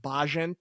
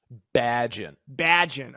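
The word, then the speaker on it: Bagent: Remember last episode when I mispronounced the backup quarterback name for the Bears? Bajan. What is it? I already forgot. I'm stuck pronouncing it the European way. How do you say it? Badgin.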